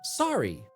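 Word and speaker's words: Sari: in a circus and sorry s a r i but pronounced like the word sorry uh who is remind I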